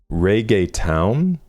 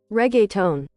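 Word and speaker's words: reggaeton: Pronunciations. But now hopefully we'll know for life. Reay town. Regga tone.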